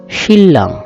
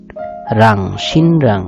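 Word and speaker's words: 신랑: শিল্লাং, এখানেও অনেকে ভুল করবে উচ্চারণটা, এটা উচ্চারণ করবে সিনরাং, আসলে সিনরাং উচ্চারণটা হবে না, শিল্লাং। নিউন এবং ডিউর একসাথে যখন হাপচাষ বলে আর কি, এটাকে একসাথে যখন মিলিত হবে তখন এটা উচ্চারণ হবে লয়ের মতো, শিল্লাং, লয়ের মতো উচ্চারণ হবে শিল্লাং।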